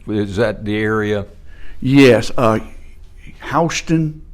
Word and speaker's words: Houston: Houston, Ohio, pronounced the same way it is here in Georgia, is a little town north of Troy, Ohio.